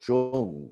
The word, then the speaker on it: Jung: was psychologist carl and if you don't speak german or at least delete little yiddish you might not pronounce that word correctly like carl jung you know that's right